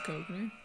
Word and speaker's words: Koechner: I think it's Koechner. Okay. The correct pronunciation is David Koechner.